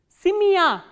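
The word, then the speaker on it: семья: Simya. Simya, as you can hear that this ya sound is pronounced as a combination of two sounds, which is e kratke and plus a sound.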